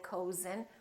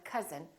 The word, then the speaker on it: cousin: but number but also sometimes this sound is spelled with oh you as in words like cousin my cousin we don't say my cozen we say my cousin or country and once